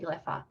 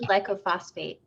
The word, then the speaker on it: glyphosate: glyphosate stuff yeah glyphosate i've been saying it wrong for like years and years and so now i'm trying to figure out how to say glyphosate glyphosate see because i thought it was lycophosphate i was like trying